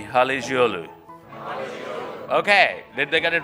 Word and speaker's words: Halıcıoğlu: you a little tutorial so the C becomes a G and the G does not exist so everybody with me Hallie's Yalu okay did they get